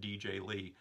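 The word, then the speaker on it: DJ L33: He spells his YouTube name DJ space L33. He pronounces it DJ Lee.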